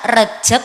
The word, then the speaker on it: Rajab: Permisi, Kiai, mana yang benar, Rejab atau Rajab, bagaimana cara pengucapannya di sini? Rajab. Oh, Rajab. Tidak heran, saya sedang memancing dan jawaban yang saya dapatkan melenceng.